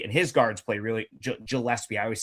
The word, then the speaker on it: Gillespie: Like Billy Gilpsy and his guards play really Gillespie, I always say his name wrong, too.